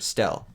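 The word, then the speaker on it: Stele: Remember, we're pronouncing it Stel now.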